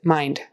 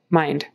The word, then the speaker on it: mind: my mind um but it has to be there because if you don't it turns into the word mine that's mine not yours mine um so make sure you pronounce it mind mind cost cost short o